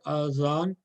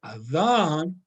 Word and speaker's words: adhan: If I say azan, then I'm here. But if I say adhan, tongue, this the tip of the tongue is going to touching my upper teeth. This is how this is actually pronounced, and this is the makhraj of this letter.